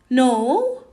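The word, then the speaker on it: know: fly flew grow grew no new here's here in the in this verb no we don't pronounce the letter k because it is followed with n when the next letter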